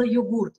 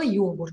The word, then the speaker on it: йогурт: а на самом деле слово йогурт, оно пришло еще раньше, чем йогурт, потому что оно было заимствовано из турецкого языка, поэтому ударение было йогурт. А потом появилось слово йогурт из английского языка.